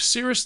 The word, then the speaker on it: Cirrus: That was Morgan Wheeler, founder and CEO of Cirrus 9 Candy, explaining why she makes salted butter cotton candy. By the way, cirrus is spelled C-I-R-R-U-S, like the cirrus clouds, hence the cloud-shaped cotton candy.